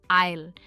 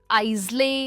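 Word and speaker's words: aisle: इसकी प्रोनाउंसिएशन है आइल। हम इसे आइजले या इसले नहीं कहते, इन दोनों की प्रोनाउंसिएशन है आइल।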